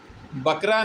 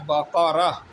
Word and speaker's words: بقرہ: نام سورۃ البقرہ ہے۔ ٹھیک ہے، بقرہ نہیں ہے، صحیح اس کا تلفظ جو ہے وہ ہے بقرہ۔ تو لیکن اس واقعے